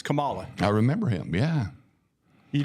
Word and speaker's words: Kamala: say her name too Kamala yeah don't don't adapt to what they want you to say say Kamala Kamala it's Kamala like the Kamala Ugandan Giant or whatever in in wrestling it's Kamala I remember him yeah